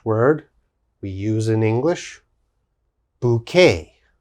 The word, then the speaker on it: bouquet: we use in english bouquet bouquet and what is bouquet of course bouquet is a group of flowers we call that a bouquet of flowers when you have many flowers you give a bouquet of flowers to your girlfriend or wife okay that's called a bouquet bouquet this has a k sound bouquet the next word